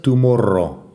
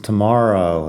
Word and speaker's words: tomorrow: Después tenemos tomorrow. Eso sí que tiene una pronunciación interesante porque no es tomorrow, es tomorrow. La R en inglés, tomorrow.